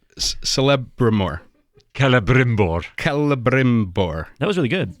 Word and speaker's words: Celebrimbor: mean, but it took me ages to know that the C sound is a K in Tolkien.